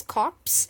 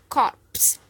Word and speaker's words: corpse: remains and corpse so you'll have to pronounce the R in this corpse otherwise it becomes when you don't pronounce the art it becomes cops that means police officers so corpse corpse example a cluster